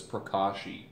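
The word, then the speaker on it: pracaxi: like that but it is all but it's pronounced like this prashi marula oil from Africa prashi oil from a rainforest hoba um is from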